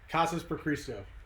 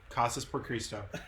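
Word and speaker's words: Casas por Cristo: Casas per Cristo. Casas per Cristo. I keep trying to put an H in there.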